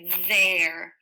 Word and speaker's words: there: a tricky word it's there there there there the th says the ER says a or and the e is silent it doesn't really follow the rules a purveyor a sentence